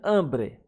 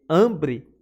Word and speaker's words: hambre: E de hambre A sílaba forte também é hambre.